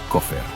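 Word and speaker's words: כֹּפֶר: Se pronuncia coffer.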